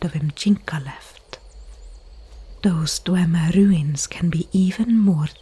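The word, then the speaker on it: Dwemer: It was him who found me dying outside that Dwmer ruin left. Yes, that is how you pronounce it.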